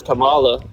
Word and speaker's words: Kamala: And then secondly, when she was running for her name is pronounced Kamala.